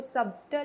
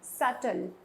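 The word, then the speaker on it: subtle: आप देखिए यहां पे यहां पर जो बी है वो साइलेंट है बी को प्रोनाउंस नहीं किया जाएगा इसको सबटल नहीं कहा जाएगा इट्स सटल नेक्स्ट में आते हैं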